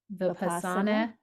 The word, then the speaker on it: Vipassana: And I'm going to say to pronounce it the right way, but Vipassana.